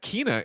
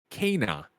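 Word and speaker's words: Kena: That Gree writes in and says Kina is pronounced Kana, and then sources the developer's Twitter.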